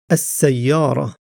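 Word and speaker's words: السيارة: Whereas with the word as sayyara the lam is not pronounced and the first letter seen is doubled. Seen is a sun letter.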